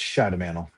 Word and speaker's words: Schidemantle: Uh, it's pronounced Shadowman.